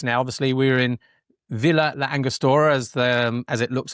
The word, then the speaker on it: Villa La Angostura: Obviously, we were in Villa La Angostura as the as it looks on the on the pages, but Villa Angostura is how they they pronounce it locally or close to that.